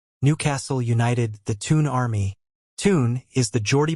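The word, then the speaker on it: Toon: a magpie bird Newcastle United the tune Army tune is the Jordy pronunciation of town and army reflects the large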